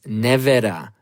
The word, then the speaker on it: Nevera: First of all, how do you properly pronounce the name of this company and this car? It is Rimac Nevera. Rimac Nevera, okay? Stop saying Rimac Nevera. You Westerners are butchering the Croatian language, okay?